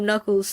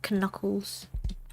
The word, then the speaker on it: knuckles: Did you know that Speaking of knuckles, I used to pronounce it knuckles like how you pronounce knife as knife cuz there's like kn. English is so weird, man. Why Why do you have to make the K silence, but it's there, you know?